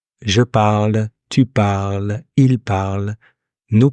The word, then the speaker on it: parle: Now, the final E doesn't sound, S either, or T or D. Usually they don't sound. Je parle, tu parles, il parle, nous parlons, vous parlez, il parle.